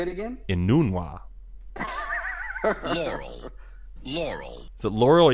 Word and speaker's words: Enunwa: That's how you pronounce it? Enunwa. Yes. Say it again? Enunwa.